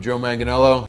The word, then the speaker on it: Joe Manganiello: I don't know how to pronounce his last name either. Hi, I'm Joe Manganiello.